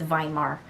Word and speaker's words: Weimar: It's a W, but they don't pronounce W's. It's Weimar Republic.